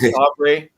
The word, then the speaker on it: Favre: I think Favre. Remember how they mispronounced his name in the draft?